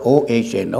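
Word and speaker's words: Ohno: all my name is uno it's spelled out o h no o sounds like oh no a very negative name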